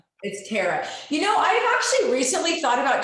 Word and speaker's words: Tara: But unless people ask, is it Tara or Tara? And by the way, phonetically, Tara should be T-E-R-A. Just so you know, it's T-A-R is tar, right? You wouldn't say tear on the road.